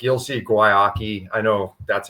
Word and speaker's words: Guayaki: Like you'll see Guayaki. I know that's how you pronounce it, just so you know.